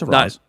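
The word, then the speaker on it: Arraez: It's Araúz.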